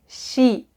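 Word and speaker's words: 시: and combined with oo however only if you combine this consonant with the vowel e will the pronunciation change to sh kind of like you're shushing someone telling them to be quiet shh so the syllable will be shi shi shi so remember it's sa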